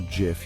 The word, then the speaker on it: GIF: So whether you say GIF or GIF, you're not wrong. If you want to go by the book, or the creator in this case, then GIF it is. But if you're a stickler for phonetics, GIF works just as well.